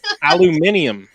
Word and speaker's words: aluminium: Should we take a shot every time he says aluminum? I can't even say that. Aluminium. Aluminium, which is how it's spelled.